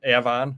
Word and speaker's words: Avon: We got Avon, which is pronounced Avon up here. Okay. Everybody else in the world pronounces it Avon. We pronounce it Avon.